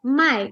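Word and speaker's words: 买: of my okay now my in the third tone means to buy and mai in the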